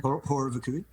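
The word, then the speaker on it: Horror Vacui: Horror Vakui, is that how you pronounce it? Horror Vakui.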